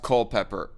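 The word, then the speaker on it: Culpeper: invisible hand also says you got it right it's pronounced Culpepper I gotcha can chat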